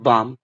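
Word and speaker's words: balm: और बाम यहां भी एल साइलेंट है।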